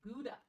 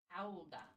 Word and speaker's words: Gouda: Gouda. Gouda. So everybody else calls it Gouda or Gouda.